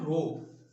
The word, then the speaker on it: rho: ठीक है, तो इस सिंबल को हम बोलते हैं रो। क्या बोलते हैं इस सिंबल को, ये जो सिंबल हमारा बना इसकी स्पेलिंग होती है RHO, रो, रो, RHO, इसको हम बोलते हैं रो।